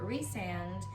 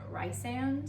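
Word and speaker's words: Rhysand: there was one so i had been calling him rice and in my mind and then when it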